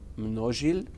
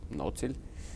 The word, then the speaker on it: Mnozil: pub called not sealed which is actually a Czech name actually it's pronounced no shield but in Vienna everybody says no till Americans say novel and manat Seoul brass